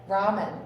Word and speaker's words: ramen: Ramen. Ramen. I always said Raymond Noodles and it's really ramen noodles.